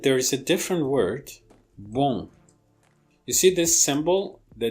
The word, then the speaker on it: bon: But if you pronounce the same string of sounds, the same sequence of sounds, with the nasal cavity open, which means with the velum lowered, you get a new vowel, and this vowel is a different vowel than this, and it creates contrast.